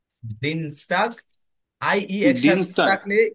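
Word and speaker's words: Dienstag: জনটা Starc হ্যাঁ এরপর Tuesday কে কি বলে দিন স্টাগ দিন স্টাগ আই ইয়ে থাকলে ই এর মত উচ্চারণ হয় এজন্য দিন স্টাগ দিন স্টাগ টাগ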